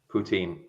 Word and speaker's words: poutine: that is yeah how do you say it poutine poutine what you just call it french fries